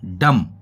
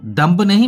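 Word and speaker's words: dumb: 20 silent रहता है जैसे की फ्रेंड डू एमबी दम इसको दम बोलते होगी इसको बोलते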